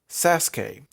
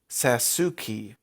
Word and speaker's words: Sasuke: monster of the weak sasuke which is mispronounced in the english dub as sasuki which is let's just